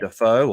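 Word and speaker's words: Daffue: Yeah, so Duffy, I believe, is the correct pronunciation.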